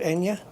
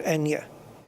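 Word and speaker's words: eñe: In Spanish, I think it's just called Enya in Spanish. A tilde. Or in the Spanish alphabet it's called Enya. Yeah, the letter is called Enya.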